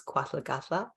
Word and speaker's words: K’waahlgahlda: So how you pronounce my business is Kwathlagatla, and it's the Haida Kill language, which is from the southern dialect of Haida Gwaii, which is where I'm from.